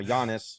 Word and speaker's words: Giannis: JIS I got his first name right now Giannis you did get that part right come on